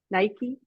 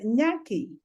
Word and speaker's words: Nyaki: The last name, Nike? Nyaki. Did I say it right? Nike. So Nyaki.